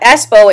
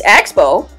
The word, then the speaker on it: Expo: how she pronounces it she pronounces it the espo now you're you're more than willing to to call Leticia and tell her that it's not espo it's Expo um and that's hurting the